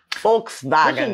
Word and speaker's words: Volkswagen: pronounced Volkswagen and not Volkswagen so just imagine that it was spelled with an f and v in FKS vagen folks vagen get that one Volkswagen